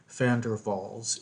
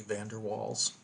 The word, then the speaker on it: van der Waals: Dutch name and so the V is pronounced like an f and the W is pronounced like a V fander valls equation anyway it's okay if you say Vander walls that's fine what we